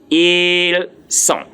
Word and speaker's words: ils sont: Ils sont. Please, I didn't say ils sont. The T there is silence. The S from the il is silence. The T from the son there is also silence.